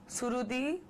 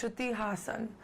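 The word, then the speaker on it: Shruti Haasan: So I get Shruti, Surudi, Strudi, Hassan. No, it's Shruti Hassan. And I would really love if you could say it that way.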